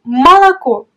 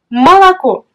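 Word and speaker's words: молоко: Mais dans le cas où l'accent frappe une autre voyelle, tu dois prononcer la voyelle O comme A. Et voici les exemples. Le mot malako. Malako.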